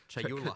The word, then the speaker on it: Chayula: The acolyte of is it Chalula? Chayula. Chayula. I always say this wrong.